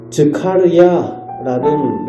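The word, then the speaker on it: זכריה: 출신으로 볼 수가 있습니다 스가랴는 이름의 의미는 즈카르야는 원어의 그 발음을 가지고 있는데 여호와의 기억 여호와께서 기억하신다라는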